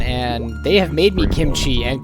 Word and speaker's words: kimchi: I always call it kimchi, right? Like with a K. Mhm. But I've heard native Korean speakers talk about it and they'll spell it with a K, but when they say it, it sounds like kimchi with a G to me.